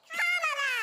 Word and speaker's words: Kamala: First you say comma like a comma in a sentence. Then you say la like la la la la. Put it together and it's 1, 2, 3, Kamala.